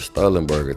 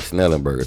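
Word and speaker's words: Schnellenberger: man and even though we won the Howard sterenberg trophy I mean Howard snellenberger trophy let me say my dog name right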